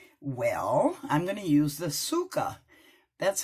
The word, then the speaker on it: Tsuka: today you ask well I'm gonna use the sukkah that's how it's pronounced and this is based on many mores